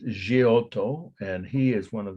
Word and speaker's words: Giotto: And when I was growing up, Giotto is how they would say it in Indiana, but it's Giotto, and he is one of the all-time greatest painters in at least Western art.